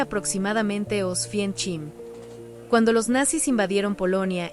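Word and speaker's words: Oświęcim: De antes de la ocupación nazi, la ciudad se llamaba Osgim, se pronuncia aproximadamente Osfien Chchim.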